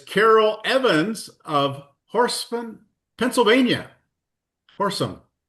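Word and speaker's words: Horsham: Horsesome. I think that's how you say it.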